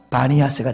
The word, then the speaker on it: 바니아스: 그러니까 빌립보 가이사랴의 또 다른 이름은 파네아스예요. 왜? 판신이 거하시는 곳 이런 뜻이거든요. 그래서 판신 이거를 아랍 발음으로 하면은 바니아스가 됐어요. 바니아스.